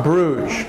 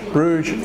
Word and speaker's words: Bruges: pronouncing Bruges Bruges in Belgium Belgium it's in Europe but it's